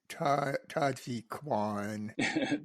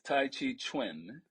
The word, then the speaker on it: Tai Chi Chuan: with Tai Chi Kwan. Tai And Chi. can you pronounce that for me? Yeah, I'm going to help you out a little bit. Please, please. It's Tai Chi Chuan Oh, and Qi Gong.